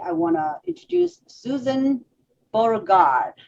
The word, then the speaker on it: Beauregard: And today I want to introduce Susan Beauregard. Is that how you say it? Yes. It's like French completely.